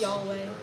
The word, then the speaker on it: Yahweh: But it's pronounced Yahweh but you added in the You can't speak this.